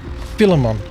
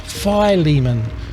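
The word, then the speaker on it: Philemon: Titus ah here we go I used to pronounce this filimon but it's pronounced fimon and then we have Hebrews now we come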